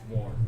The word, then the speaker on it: Worm: No, it's warm. It's WAARM, Warm. but pronounced warm.